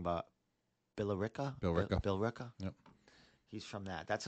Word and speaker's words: Billerica: Billerica.